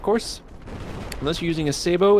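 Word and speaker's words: sabot: And it is pronounced Sabo because it's a French word, apparently.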